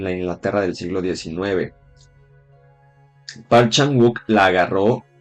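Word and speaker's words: Park Chan-wook: Es coreana del año 2016 y la dirigió Parchan Wook. El nombre se pronuncia Parchan U y es el mismo señor que hizo All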